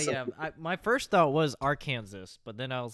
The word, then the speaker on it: Arkansas: Ari, What is Arkansas? correct. And you pronounced it Awesome.